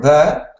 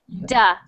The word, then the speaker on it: the: So when you were speaking, you were saying it like a D, like duh or D. The. D. Make sure that you are making that TH sound like you just made was perfect. So the. The.